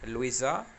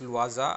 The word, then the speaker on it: Louisa: Louisa. Some people pronounce it as Luaza. I don't know what is the exact pronunciation. You may call it Louisa or Luaza.